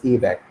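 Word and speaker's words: ABAC: based access control or this is also called a b ac or we pronounce it as a back so the main idea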